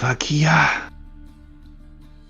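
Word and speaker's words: Hakiyah: to the temple of Hakia, the goddess of truth. Inside, you will find your trinkets. Yeah. Hakia is spelled H-A-K-I-Y-A-H.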